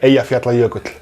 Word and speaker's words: Eyjafjallajökull: Yeah, Eyjafjallajökull.